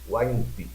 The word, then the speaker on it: Waiãpi: A audição de hoje tem uma convidada especial, deputada eleita Silvia Waimpi. Estou certo na pronúncia? Corretíssimo.